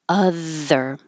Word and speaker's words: other: led us to other where you have the th with the air flow so keep the tongue between the teeth or slightly behind the teeth and the air flow if you block the airf flow it will sound like a d m so a practice by pushing more air take a deeper breath and push a lot of air other and it's a